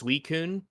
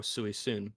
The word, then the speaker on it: Suicune: By the way, I learned it's Suicune is how you pronounce the name. I always thought growing up it was Suicune because, of course, you look at the card and you're like, oh, Suicune, but it's Suicune is how you pronounce the name.